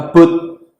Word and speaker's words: boat: Okay, so the pronunciation problem here is with the O sound. Most Indonesians are saying O. Oh. O. Boat. Oh. So we need to finish it. We need our lips to keep going, okay?